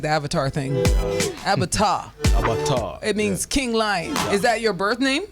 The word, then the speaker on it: Abatua: Like Avatar, but Abatua. Does it have anything to do with being an avatar? No. Nothing. Means King Lion. Okay. But I still kind of like the Avatar thing. Abatua.